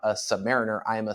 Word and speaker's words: Submariner: really quick is most people call it the Submariner and I flip between calling it the sub